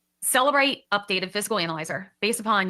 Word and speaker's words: Cellebrite: Celebrate updated physical analyzer based upon your research and what you learned in that.